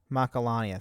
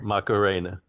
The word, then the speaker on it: Macalania: Macarena. Macarena. That is actually a joke in the game. They says Titus pronounces it wrong and he he says Macarena.